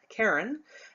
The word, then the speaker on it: cairn: This is called a cairn. and that's spelled C-A-I-R-N, Karen.